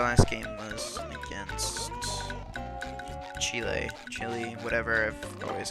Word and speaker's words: Chile: Chile, whatever. I've always called it Chile because that's how they pronounce it.